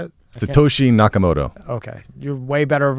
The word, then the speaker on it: Satoshi Nakamoto: Satoshi Nakamoto.